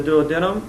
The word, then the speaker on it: duodenum: And then you have the corners of the mouth, which are the duodenum. Duodenum, thank you. No, I said that wrong. It can be pronounced either way.